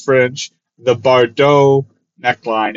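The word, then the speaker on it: Bardot: Don't pronounce the T. I'm decently sure it's French. The Baux neckline.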